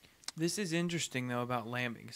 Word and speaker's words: Lambic: Well, how do you pronounce the name of it again? Lambic.